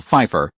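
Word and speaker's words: Pfeiffer: Michelle Fefeifer. No, Feifer. Also, no. Ronald, after all, was from another time and wasn't very good at pronouncing this Germanstyle spelling with two consonants together. It's Michelle Fefeifer. The P is silent.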